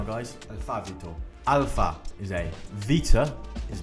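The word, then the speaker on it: Βήτα: alabo Alpha is a Vita is B notice it's pronounced with a V gamma is G Delta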